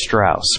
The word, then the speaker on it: Strauss: for listen listen listen the name is Strauss pronounced like house going solo this time